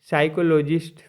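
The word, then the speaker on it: psychologist: जो एक बीमारी है पी एस वाई सी एच ओ एल ओ जी आई एस टी साइकोलॉजिस्ट पढ़ेंगे पर पी आगे लिखाता है मनोवैज्ञानिक होता है आर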